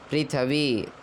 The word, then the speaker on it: पृथ्वी: कई लोग पृथ्वी को पृथ्वी कहते हैं। वह अशुद्ध हो जाता है। प्री थी वी पृथ्वी तन माता पृथ्वी तत